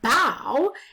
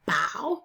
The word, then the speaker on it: bow: And bow is a tricky one because that's take a bow, but it also looks like bow. So you have to say, you can pronounce it two ways.